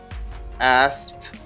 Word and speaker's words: asked: write it like this i say asked this is like this okay because this idi gives you the sound you say ask you don't pronounce k letter k is not pronounced very good so you